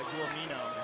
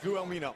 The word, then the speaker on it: Guelmino: Good elbow on the top by Guelmino.